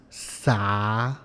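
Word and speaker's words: xav: It is spelled X-A-V, and this is pronounced Sa.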